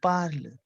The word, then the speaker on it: parle: Why didn't you pronounce the E? We don't pronounce the E. That by default it is we are pronouncing parle.